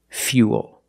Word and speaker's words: fuel: We're going to use the y sound. Fuel, not fuel, but fuel. We have the same long ooh sound after the y. So, it's u plus the dark l.